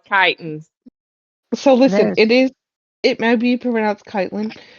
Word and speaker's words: chitin: said that it's pronounced chitin. So It listen, is. it might be pronounced Kitelin, but when Brittany said it, she called it Chitlin, and then we went to I did Chitlin.